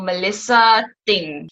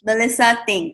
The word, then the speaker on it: Melissa Th'ng: you pronounce your last name ah how I pronounce my last name is thing so Melissa thing Melissa thing Okay cool so um your content is both